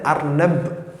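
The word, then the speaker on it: أرنب: ഉദാഹരണത്തിന് അർനബ് എന്ന് പറഞ്ഞു കഴിഞ്ഞാൽ അർനബ് കഴിഞ്ഞു.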